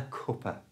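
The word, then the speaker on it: cuppa: to say this naturally change the last a for the schwar sound which is the little uh sound that's so common in English so it's not C A it's cup coer you try coer it's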